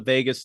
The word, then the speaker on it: vagus: have this connection it's called the vagus nerve if you think of Las Vegas it's easy to remember even though it's spelled differently but basically there's more